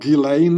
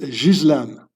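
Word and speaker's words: Ghislaine: It's so her name is not Gileain or whatever you pronounce it. It's a French name. You pronounce it Jizlan.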